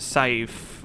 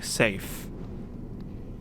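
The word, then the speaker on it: Saif: People have been telling me in between videos that it's not actually pronounced safe with an AI. It's actually safe.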